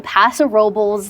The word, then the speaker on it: Paso Robles: It is pronounced that way, Paso Robles. They do not say it in a very traditional way.